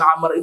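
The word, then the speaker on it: عمرو: Kalau ada tulisan Amr itu dalam bahasa Arab, di belakang ada huruf waw. Nah, waw itu tidak ada fungsi apa-apa.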